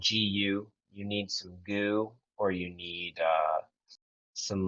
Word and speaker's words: GU: You, So Uh, you need some goo, or and it's spelled GU. You need some goo, or you need some like gel blocks, or like protein.